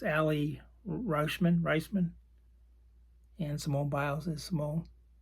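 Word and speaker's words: Aly Raisman: I always mispronounce it. It's Allie Reisman.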